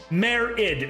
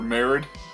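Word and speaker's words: Marid: I'm think Madrid, but without the D. Yeah. Yeah. Merid.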